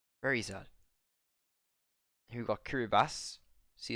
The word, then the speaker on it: Kiribati: Here we got Kiribati. See, it says TI at the end. It's actually pronounced Kiribati. And somehow I forgot it anyway.